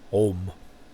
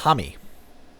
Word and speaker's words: Homme: him on soundcloud on how to pronounce his name in europe it's home and in america it's hami so that's cool josh hammy